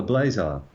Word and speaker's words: blazar: object that we call a Blazer um to rhyme with quazer yes BL blazar when